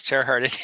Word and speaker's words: Terhart: So, the last name is Terart.